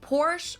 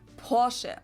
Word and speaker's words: Porsche: heard Americans pronounce it Porsche or Porsche in German we not everyone in the world will pronounce it Porsche say Porsche so there's like short a sound in the end it was founded by